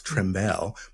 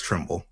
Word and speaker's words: Trimble: to be here and I love how you pronounce my name you said almost sounds like really fancy like like tar right so how do you pronounce it I look again I I'm gonna start pronouncing it trimel but it's just Trimble okay all right hey